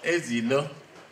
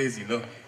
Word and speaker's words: Ezilo: Ladies and gentlemen, Dr. Ezilo, that's how we pronounce it back in Assoc. Dr. Ezilo, is it? Am I doing that right? Yes. Yes, Dr. Ezilo.